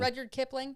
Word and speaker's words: Rudyard Kipling: She went to Africa with Ernest Hemingway and to India with Rudyard, how do you pronounce that? Rudyard Kipling. Rudyard Kipling, yeah.